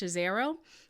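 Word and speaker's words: Scazzero: healthy discipleship by peter i think his last name is pronounced chazero a phenomenal book i'm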